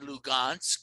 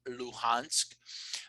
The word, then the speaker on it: Luhansk: So you have these breakaway republics, Donetsk and Lugansk. Some people pronounce it Luhansk.